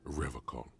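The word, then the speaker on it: Revachol: He pronounces Revol with a hard K, unlike other people.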